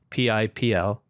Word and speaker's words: Pipl: did you get the name Pipl and the pronunciation? Because it's brilliant and it's great branding, even if that wasn't the intention. P-I-P-L, Pipl.